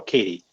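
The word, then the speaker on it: Cady: She says it all like Oh, Katie, which Katie is spelled C A D Y.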